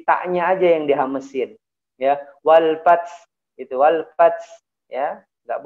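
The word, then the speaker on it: وَالْفَتْحُ: Jadi ya wal fath gitu ya, tidak boleh wal fath fath ini fatal sekali ya, salah kalau bacanya wal fath gitu ya.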